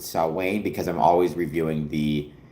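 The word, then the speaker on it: Samhain: Not only do I know it, but you'll notice I pronounced it correctly. For the record, I'll, you know, I know to pronounce it saw Wayne because I'm always reviewing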